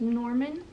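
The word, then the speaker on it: Gnorman: And then the other not animal sidekick, fairy sidekick type thing was a gnome and his name was Norman with a G. Don't forget the G. The G is silent.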